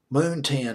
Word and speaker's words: Moontan: Moontan, I believe is how you pronounce it.